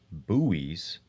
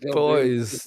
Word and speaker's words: buoys: saying, "Do you think they'll have the buoys, pronounced buoys, again for this flight?" They're boys, yes.